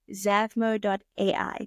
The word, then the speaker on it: Zavmo.ai: I would like to now shift and talk more about, please excuse me if I mispronounce it, Zavmo.ai.